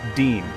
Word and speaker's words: disme: The first American coin ever made was the 1792 Half Disme, pronounced Dean.